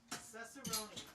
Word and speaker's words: Cicerone: How do you say your last name? Cicerone. Cicerone. The San Francisco tree. Yes. That's right. Just like rice-a-roni.